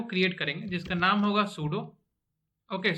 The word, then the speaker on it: pseudo: सबसे पहले तो एक फाइल को क्रिएट करेंगे जिसका नाम होगा सूडो। ओके, सो यहाँ पर पी जो है वो साइलेंट है।